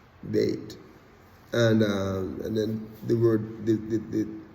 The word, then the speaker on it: Bet: It's spelled B-E-T, but it's Beit is the pronunciation, Beit.